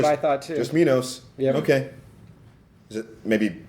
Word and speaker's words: Minos: so back up at the top of mine, I noted Minos, not Minos, as Picard kept saying.